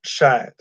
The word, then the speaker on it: Shahid Khan: Dad's name is Shahid Khan. Okay. It's pronounced Shad.